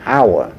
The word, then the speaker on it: hour: Cho nên là chữ hour là có chữ H ở đầu thật sự, nhưng chữ H là H câm, cho nên nó đọc thành an hour.